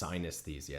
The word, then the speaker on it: synesthesia: It's synesthesia.